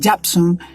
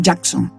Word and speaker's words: Jackson: que son muy buenos Shirley japson eh Jackson parece que lo pronuncié con una p y no es una c una k y como los jaon